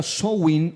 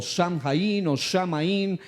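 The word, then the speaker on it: Samhain: una antigua festividad celta llamada Sheim, pronunciada Soin o en diferentes tipos de literatura se le llama incluso hasta o sham pero shahin es el más usado por la mayoría.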